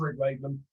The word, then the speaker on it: Rick Wakeman: I love Wick Rakeman. Wick Rakeman. I've gone for there. Z-list, and you're mispronouncing his name. He's gonna hate me. No, I love Rick Wakeman.